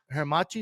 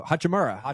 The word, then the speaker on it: Hachimura: who's the uh the hermachi what's his name I said it wrong I already knew hachimura there you go because